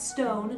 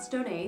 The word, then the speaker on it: Stone: That's Stone, not Stoney. The accento is silent.